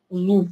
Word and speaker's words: зуб: Человек, который привык к правильному орфографическому виду слова, он произнесет, но он даже не задумывается, что он произносит П. Зуб.